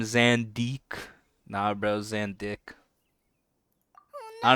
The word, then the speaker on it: Zandik: Because you're supposed to kind of stress the first syllable a bit more. You say like Zandik instead of Zandik.